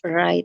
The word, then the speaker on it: write: Jadi W-nya nggak perlu dibaca gitu ya.